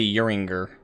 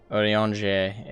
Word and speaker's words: Urianger: keep wanting to say Uringer. Urianger is, I suppose, better.